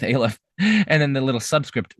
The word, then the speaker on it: aleph: that's a little aleph some people pronounce it alif but i don't like that so i'm going with aleph and then the little